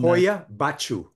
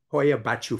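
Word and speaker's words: Hoia-Baciu: Let's talk about and and I have a hard time pronouncing the name. I'm Hoya Bachu. Hoya Bachu Forest outside it's in the outskirts of Kuj.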